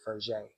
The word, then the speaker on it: Fraise: That's how I pronounce it at first. But looking at the podcast, they pronounce it Fraise.